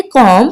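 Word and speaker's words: calm: कॉम पु स्कून रहे अब आप सोच रहे होंगे यहां पे तो एल भी है लेकिन मैंने एल को प्रोनाउंस नहीं किया मैंने जस्ट सी ए एम को प्रोनाउंस किया है तो इसके लिए मैं आपको बता दूं एल जो है यहां पे ये साइलेंट लेटर है साइलेंट लेटर यानी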